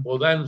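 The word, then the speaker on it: Bodin: Bodín Bodán se pronuncia en los seis de República la teoría de la soberanía.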